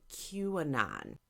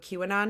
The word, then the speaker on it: QAnon: no fucking idea what QAnon is? Well, here's the Cliff Notes Can you version. spell that? It's Q, capital A, and then N-O-N. So it's like Q. Gotcha. Anon, Yep. like anonymous.